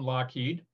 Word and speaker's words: Lockheed: This is Lockheed. And I didn't mention it before, but the name was actually spelled L-O-U-G-H-E-A-D, which is Loughead, as people pronounce it, but it's Scottish, so it's Lockheed.